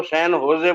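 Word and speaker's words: San Jose: उच्चारण क्या होना चाहिए आपके यहां सन जोश लिखा जाता है उसको सन होजे बोलते हैं उसमें तो वी आर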